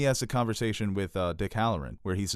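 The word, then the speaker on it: Hallorann: Harahan? Halloran.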